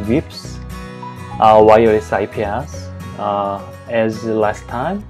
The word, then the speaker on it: wIPS: show you about wips i pronounce it as wips is ips as last